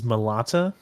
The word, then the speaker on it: Malata: i'll i'll try with malata as the pronunciation okay the the way that i heard it in the audiobook i believe chevrolet corrects me is melata yes malata i call